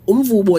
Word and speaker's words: umvubo: Umvubo is pronounced umvubo.